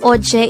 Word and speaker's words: 어제: 81 oj this is pronounced as a two-syllable word the first syllable is o the second syllable is che pronounce it with me the word ochei is another adverb of